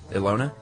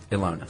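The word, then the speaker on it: Ilona: I was actually shown them by my friend uh how would you pronounce I L O N A? Ela Ela. Ela. It's like Ela.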